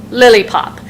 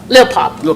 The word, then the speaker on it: Lilpop: Chris McGowan, Kurt Viner, Derek Yarmer, I believe, is not here, and Megan Zampieri, Lilipop. Did I say it right? Lilpop. There's no I in there. I'm trying to add in.